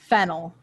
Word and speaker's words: phenyl: amino 2 bromo phenol notice the difference in the pronunciation phenol phenyl their spelling of course is very similar they sound very similar but they're very different things and if you are